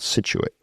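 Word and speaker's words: Scituate: Uh town called Situit. s c i t u a t e. Not too many people can spell it.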